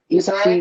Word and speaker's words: Issa Rae: Issa Rae? She's the direct. Issa. Right. That's her name. Issa Rae. That's how you Okay.